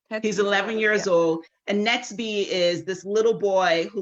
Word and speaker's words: Netsby: Netsby. Netsby. Yes, I have that right. Okay. So Netsby is 12 years old as well? He's 1 year younger, so he's 11. He's 11 years old. And Netsby is this little boy who lives in the